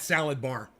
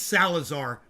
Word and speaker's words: Salazar: extra cheese on that salad bar oh i'm sorry am i saying her name wrong i think it's salazar but i like salad bar better now taxi drivers hotel